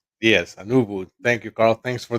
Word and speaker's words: Anuvu: global head of technology for technology services for anuu now Rodrigo welcome did I um did I actually pronounce that right yes anuu thank you Carl thanks for the invite no